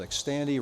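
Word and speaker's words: Xtandi: enzalutamide actually also called X Tandy rhymes with candy this is a powerful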